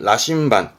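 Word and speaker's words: 羅針盤: 요게 자 바늘 침자의 반자 그렇습니다 이게 나침반입니다 발음은 라신반 라신반 다 아시는 고한 자가 되겠죠이 라자는 시험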